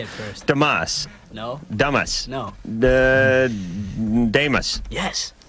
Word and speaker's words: Damus: Damus. No. Damus. No. Damus. Yes. Damus? Yes. All right, that'll be the last time I say it right. All right, I'm gonna put a little line over the A.